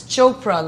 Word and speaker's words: Chopra: My name starts with a P, and it's Chopra, like Oprah, not Chopra or Chopra or whatever.